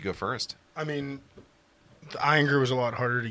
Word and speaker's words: Ayinger: It is Ayinger.